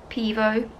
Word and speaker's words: Pivo: So I'm going to take the Pivo, that's how you say it, out.